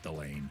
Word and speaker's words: Delane: I heard it pronounced by somebody from New Orleans who Delane, which is what I that's my preferred pronunciation, but I think he goes by just Delaine.